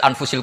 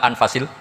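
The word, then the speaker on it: أنفس: saja di sini ditulis anfusil kutub kalau saya baca anfasil kutub karena maknanya kitab ter baik Kalau kitab terbaik bacanya bukan anfus tapi apa anfas ya nanti kamu debat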